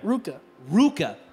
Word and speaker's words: RVCA: Like, remember, there was a brand that was called, I'll just spell it out, it was RVCA, right? Yeah. Ruka. I remember finding out it was called Ruka.